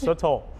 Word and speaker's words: sotol: Explain sotol, if I'm even saying it right. Tell us what you're doing. You are saying it right. It's sotol.